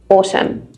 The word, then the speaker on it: autumn: a bit tricky because we've got a silent letter at the end n so we just say or AUM Autumn the last one column